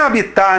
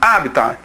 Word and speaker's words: habitat: Moçada, essa forma aí, habitar, ela existe. Ela é a forma vulgar da pronúncia da palavra. Na realidade, essa palavra, a pronúncia dela, a pronúncia ideal, não quer dizer que é a mais correta ou menos correta, não interessa isso, mas a primeira pronúncia dela é essa daqui, o resgate do latim, habitat.